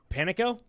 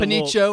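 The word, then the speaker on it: Panicco: I think pronounce it Panico? I think so. Because they did Panicho or something. I believe it's Panico because they did a little Panico at the disco for their Twitter.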